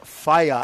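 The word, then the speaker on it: whea: out riger te yeah so that wh EA that you see up there under New Zealand that's pronounced fire fire means ATI and these anties are on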